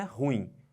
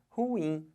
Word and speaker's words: ruim: bota força aqui mas a sílaba tônica não é horror é o ruim então o certo de falar não é ruim o certo de falar é ruim Olha a força que